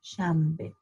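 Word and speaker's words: شنبه: is chamber in fact it's spelled with s you know sound a n b but if you try to pronounce an n before a b often it comes out as an m so what you hear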